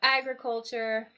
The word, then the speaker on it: agriculture: do with agriculture so I notice the shift in uh the syllable stress there so agriculture becomes agricultural when we turn it to an adjective yeah so agriculture syllable on the first sorry stress on the first syllable AG agricultural we shift the stress to here all right great all